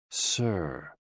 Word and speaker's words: si: associated with the heart s i pronounced like sir with a slow exhale